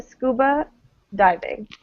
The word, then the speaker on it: scuba diving: we kind of uh there's no clear stress in this one we say i've been scuba diving the diving is sort of the thing that's unstressed i would say scuba diving right and that we emphasize the scuba yeah okay all right